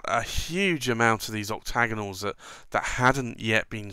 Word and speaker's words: Octa90nal: again stacked celluloid but he called it the octagonal but with a PlayOn on the word octagonal so it's Oct a 9 0 as in 90th anniversary n al so octagonal but spelt with 19 in the name which is a little